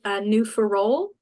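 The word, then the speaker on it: New Ferolle: Peninsula from Reefs Harbour, New Ferrol. Correct me, Karla, if I'm wrong there with that pronunciation, to St. Anthony and all those areas in between. It would be New Ferrol. New Ferrol, thank you.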